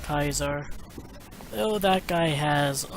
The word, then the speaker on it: Caesar: a guy gets assassinated Oh Kaiser it's actually pronounced Kaiser oh that guy has a lot more of